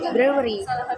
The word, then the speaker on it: brewery: First, brewery. Divide deteriorated in syllable. There are three. Brew, and y. So there are three syllable, and stress syllable is brew.